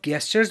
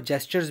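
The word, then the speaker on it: gestures: इस वर्ड को आप गेस्चर्स भी बोल सकते हैं और जेस्चर्स भी बोल सकते हैं. Both the pronunciations are correct.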